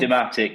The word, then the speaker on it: Dematic: so yeah is it it's deematic is that how it's pronounced dematic yeah yeah the like a supply chain logistics um solution solions expert.